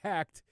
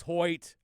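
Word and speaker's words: Hecht: h e c HT so I kept saying hecked and I knew it was Hoy I had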